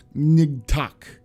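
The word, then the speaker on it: Ngatac: in front of it nigtok nigtok or something like that gorilla for sale magilla gorilla it's n-g-a-t-a-c is how you're supposed to say it like new organ yeah attack uh do you know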